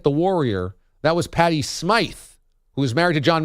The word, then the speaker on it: Smythe: sorted this out earlier I thought they were both pronounced Smith I didn't realize Patty Smythe with the why was pronounced that way we all got it